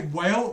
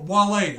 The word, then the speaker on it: Wale: sorry, did I just say Whale? Wale.